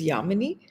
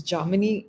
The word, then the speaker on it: Jamini: By the way, Jamy, Yami, you know, it's it's the non-Bengali way of pronouncing the name is Yamini, but it is Germany and it means the same thing, which means moonlight.